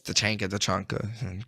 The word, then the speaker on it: Tachanka: I know it's Tachanka. Great. I love to hear the official pronunciation, but yeah, or the pronunciations of all the operators around the world.